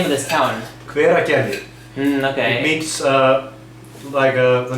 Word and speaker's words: Hveragerði: Hveragerði. Hveragerði.